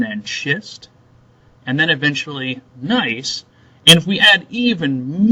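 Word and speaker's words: gneiss: the metamorphic rock called nice the G is actually silent so we don't pronounce the G it's like the word gnome it's just nice nice so look at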